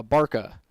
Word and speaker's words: Barka: Looks like I got a Barka. There's some pen and some pencil on there, but that's a barka. All right. Art has confirmed that is the pronunciation.